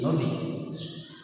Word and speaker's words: নদী: যেমন নদী একটা শব্দ, এখানে দয় দীর্ঘিকার ব্যবহার হয়েছে বানানে। আমরা যদি উচ্চারণ দেখাতে চাই তাহলে হবে নদী।